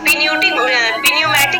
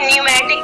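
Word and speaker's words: pneumatic: वो आपका क्या है, इसको हम पिन्यूमेटिक नहीं पढ़ेंगे, इसको क्या पढ़ेंगे, न्यूमेटिक पढ़ेंगे, ठीक है। बहुत लोग क्या पढ़ते हैं, पिन्यूमेटिक, इसको करेक्ट प्रोनाउंसिएशन होगा आपका न्यूमेटिक।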